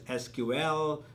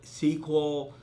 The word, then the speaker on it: SQL: It's called the structured query language, generally pronounced as SQL, some say SQL. It's the same thing.